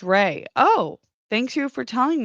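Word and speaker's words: Rhea: Oh, Ria is apparently pronounced Ray.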